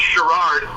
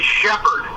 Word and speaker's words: Sherrard: It's actually pronounced Sherrard. Sherrard. Sherrard, but good for you because you didn't say Shepherd, which is very common. I don't know how people turn the two R's into two P's, but that's one that